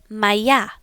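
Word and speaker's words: моя: If you have a female noun, you are going to say maya.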